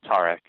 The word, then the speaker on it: Tarek: Tarek.